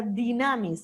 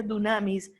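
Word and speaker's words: δύναμις: a recibir poder poder la palabra dinamis se escribe se pronuncia dunamis es fuerza van a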